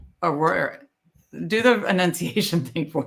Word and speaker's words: Arroyo: My pronunciation. Arroyo. Elijah Arroyo. Arroyo.